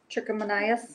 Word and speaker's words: trichomoniasis: Some people call it, well, the technical name, if I'm pronouncing it correctly, is. We're gonna be talking about canker. Trichomoniasis?